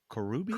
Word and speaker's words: Corrubia: Corubia. Corubia.